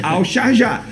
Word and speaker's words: Al-Sharjah: Agora, o Leandrinho, de fato, ele recebeu uma proposta oficial através do documento do Al-Sharjah. Al-Sharjah. Foi assim que me pronunciaram, então é assim que eu vou falar aqui no programa. Al-Sharjah.